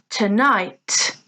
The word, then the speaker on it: tonight: Tonight, tonight. Again, 2 syllables, tonight, but here the stress is on the second syllable.